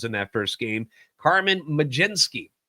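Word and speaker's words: Mlodzinski: that first game, Carmen Majinski. It is not spelled that way, but it's pronounced Majenski.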